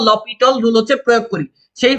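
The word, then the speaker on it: L'Hôpital: তো এইটার সঠিক উচ্চারণ হচ্ছে লপিটল, এটার আসল উচ্চারণ হচ্ছে লপিটল রুল। বাট আমরা বাঙালি কেউ আটকে রাখতে পারবে না, তো আমি আপনাদের সাথে চলেন লা হসপিটাল রুল বলি চালায় দেই বা এল হসপিটাল রুল বলি চালায় দেই।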